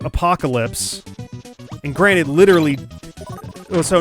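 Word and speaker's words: Apokolips: a-p-o-k-o-l-i-p-s or something like it's phonetically apocalypse but it's not spelled like the apocalypse and it's like you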